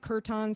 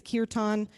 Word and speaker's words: kirtan: okay sometimes like i sometimes i pronounce it kerton sometimes it technically it's kirtan i don't it's kind of like tomato tomato potato potato so um so kirtan is